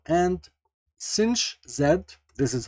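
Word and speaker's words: sinh: z + e minus z / 2 and cinch zed this is how they actually pronounce it is equal to e z minus e to the power minus z / 2.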